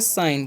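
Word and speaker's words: sign: एस आई जी एन। तो इसमें हम पढ़ेंगे साइन। क्या पढ़ते हैं? साइन। यहां पर जी साइलेंट होता है।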